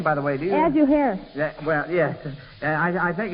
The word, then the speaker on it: Ahasuerus: Ahasuerus. Well, yes. I think it's pronounced Ahasuerus, Joel.